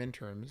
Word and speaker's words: interim: But We could just have like random interims.